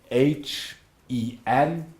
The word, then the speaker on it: Henlein: Henlein, you spell it capital H-E-N-L-E-I-N. Capital H-E-N-L-E-I-N.